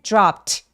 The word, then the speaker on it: dropped: 자, dropped 할 때 dropped dropped p리도 어, 성대가 울리지 않는 소리기 때문에 얘도이를 통째로 트로 발음하죠. drop 해주세요.